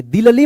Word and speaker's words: दिल्ली: दिल्ली मत पढ़िएगा, क्या पढ़ेंगे इसको, दिल्ली पढ़ेंगे, ठीक है।